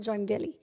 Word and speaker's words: Joinville: he saw was joinville we thought it was joinville they pronounced it join villy and so um so